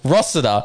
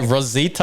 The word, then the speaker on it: Rossiter: When you see him this weekend at QMP, you walk up to him and go, hey, Denny, my name's Rossiter, not, what did he say, Rosita or whatever he said?